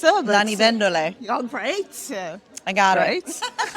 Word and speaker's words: Lanivendole: So I know it can be a bit tricky to pronounce. Lanivendole.